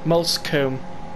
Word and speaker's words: Moulsecoomb: And I have checked that it's the right way you pronounce it, Moulsecoomb.